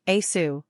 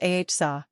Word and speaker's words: Asa: Pronunciation, A-su, sometimes A-h-sa.